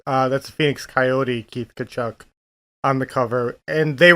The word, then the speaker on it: Tkachuk: Is that how it's pronounced? Tkachuk.